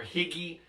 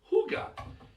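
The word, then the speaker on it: hygge: It's h y g e looks like hi or higgy. It's pronounced huga.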